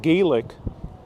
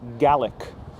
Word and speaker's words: Gaelic: You know, the thing is, in Ireland, it's pronounced Gaelic. Same thing in many parts of the US, we know it as Gaelic. But I've heard it many times here being pronounced as Gaelic, Scots Gaelic.